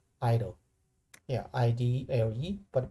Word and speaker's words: IDLE: it's called idle yeah id led but people usually pronounce idle no let go page